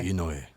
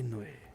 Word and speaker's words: Inoue: Inoue. Takehiko Inoue. Oh, you said the last name first. That's Inoue. You take away my weed pipe now. All right? Edit this out. So I said Inoue first before Takehiko.